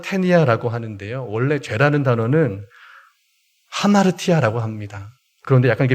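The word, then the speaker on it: ἁμαρτία: 헬라어로 보면 하마르 테니아 하는데요 원래 죄라는 단어는 하마르티아 아고 합니다 그런데 약간 이게 변형이 된 단어든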